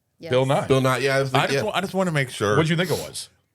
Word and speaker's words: Nye: It says Nye. It's Bill Nye.